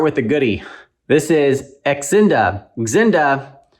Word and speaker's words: Xinda: This is Xinda. Inda if the X is silent, or Shinda if the English alphabet is useless for this brand.